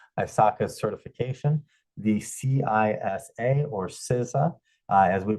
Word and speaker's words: CISA: to you to ISACA certification, the CISA or CISA, as we pronounce it.